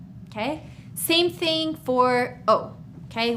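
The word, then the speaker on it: eau: Same thing for O, okay? Water, O. Here's how we spell it, E-A-U. We don't say le O, because if we did, we would have two E's together, okay?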